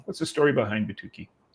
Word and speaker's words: Batuki: And and you I know right there on the screen we can see and I want to make sure I pronounce this right is is Batuki.